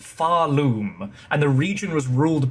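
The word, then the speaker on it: Pharloom: The location is pronounced Faroom, and the region was ruled by a race called the Weavers.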